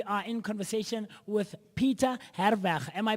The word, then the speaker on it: Herweg: This morning, we are in conversation with Peter Herweg. Am I pronouncing the surname correctly? You're spot on. That's the Afrikaans version. The English version is Herweg. Herweg. But I prefer to go with the correct Afrikaans pronunciation.